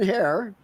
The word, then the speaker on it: Herer: in the secret square below is here hair might pronounce that correctly yes sir how about that